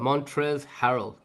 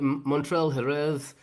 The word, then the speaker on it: Montrezl Harrell: Montrezl Harrell, right? Everyone's like Montrell Jerez.